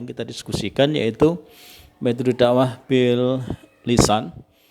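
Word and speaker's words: بالسان: Kadang-kadang kalau teman-teman tidak tahu tentang bahasa Arab, itu bahasanya metode dakwah bil al lisan, bil al qalam, bil al hal gitu. Jadi ini bacanya bil lisan, bil qalam, dan bil hal. Ya, jangan sampai keliru.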